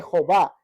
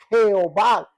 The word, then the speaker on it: Jehová: las introdujeron quedando de Jehová con h al final yehova que al venir a nuestro español la ye es como J o se pronuncia como j y quedó Jehová al final con h